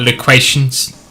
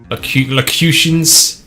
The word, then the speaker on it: locutions: Is that loquations? Loquations confuse? Locutions? That's it, locutions, that's how you pronounce it.